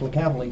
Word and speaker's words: Licavoli: There's multiple different families. I have a friend that spells it different, but it's pronounced Licavoli.